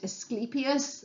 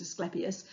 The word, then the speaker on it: Asclepius: was the god Asclepius, or sometimes people pronounce it Asclepius, but I don't like that. I was always taught it was Asclepius.